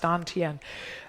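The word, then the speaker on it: dantian: chinese call it the don tien it's spelled tantian but it's pronounced don tien about halfway between your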